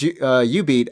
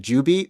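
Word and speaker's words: jubeat: When you said U-Beat, I didn't recognize it because I always pronounce it Ju-Beat because it's no, it's spelled like J-U, right? J-U beat or something.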